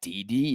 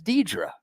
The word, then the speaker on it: Deidre: That's not DD, is it? That's Deidre. Deidre.